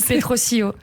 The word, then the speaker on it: Petrosilio: En fait, ouais, c'est mon nom civil, Petrosilio. Et en fait, souvent, on le prononce. Ouais, c'est Petrosilio, parce que c'est italien.